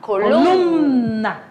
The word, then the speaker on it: columna: que a professora lê ó columna tá vendo é umzinho mudo mas que dá para sentir assim o toque dele você tem que pronunciar columna é columna tá então vocês vamos